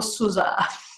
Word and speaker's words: SUSE: Ok, allora da italiana dirò sempre SUSE, Però sì, in effetti nel canale YouTube di Suse trovate anche un video è una canzone che vi spiega in modo accurato come andarla a pronunciare. E ovviamente è un Suse un po' più americano, quindi suona un po' tipo Susa, ma onestamente proprio no, non mi esce. Per noi italiani resta Suse con la E finale bella marcata.